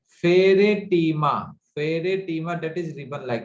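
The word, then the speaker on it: Pheretima: और जो अर्थ वॉर्म है इसका साइंटिफिक नेम है फेरेटीमा। फेरेटीमा that is ribbon like, फेरेटीमा पोस्टहुमा। पोस्टहुमा, POSTHUMA, फेरेटीमा, PHERE, फेरे। देखिए मैं फिर से प्रोनाउंस कर रहा हूँ, PHERE, फेरेटीमा, TIMA, टीमा, पोस्टहुमा, POSTHUMA।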